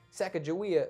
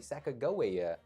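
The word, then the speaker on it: Sacagawea: Sack Jawia. Who incidentally apparently is pronounced with a hard G. Sakoa um is apparently a closer pronunciation.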